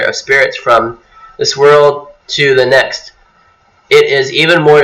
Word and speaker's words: Thoth: However, the name is usually pronounced with a long O. For instance, Thoth is pronounced as Tot, kind of like an O.